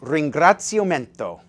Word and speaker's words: ringraziamento: By the way, it's pronounced ringraziamento.